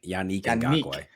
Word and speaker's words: Ngakoue: Yannick Ngakoue.